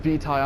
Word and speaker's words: vitae: all things or beets i know it's pronounced beetai i'm proud to get